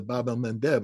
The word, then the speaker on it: Bab el-Mandeb: And the Houthi have shown the Achilles heel of Israel by shutting down the Bab el-Mandeb. I keep saying that because I finally pronounce it right.